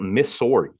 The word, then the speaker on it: Missouri: that's how it's melting you should be saying Missouri like it's m-i-s-s there's no Z I'm sorry Missouri dude